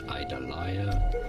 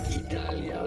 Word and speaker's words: Idalia: in Spanish idalia so because it is Spanish the eyes are pronounced like e not I so it's not idalia but Italia now in English it is